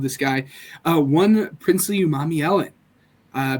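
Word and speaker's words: Umanmielen: guy uh one princely Umami Ellen uh people struggle to pronounce that last name uh again it's Umami Ellen for those who struggle uh the pass rusher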